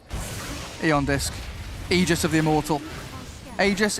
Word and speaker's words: aegis: aegis of the immortal aegis aegis you don't really care we had a patch where it was said that it's pronounced ages that's true ice frog